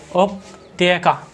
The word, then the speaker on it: उपत्यका: का इस प्रकार से कुछ इसका बोल उच्चारण है उपत्यका उपत्यका ठीक है अब